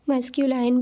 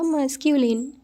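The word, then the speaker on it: masculine: देखा मास्कुलीन या मस्कल last में एल आई एन ई है लाइन की स्पेलिंग है इसलिए मस्कू लाइन भी कुछ लोग बोलते हैं बट इसका प्रोनंसिएशन होगा मास्कुलीन राइट तो आपको कंफ्यूज नहीं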